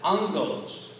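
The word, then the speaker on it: ἄγγελος: When you have a hard G, a vowel in front of a hard G, you say it fast, you tend to get an N in there.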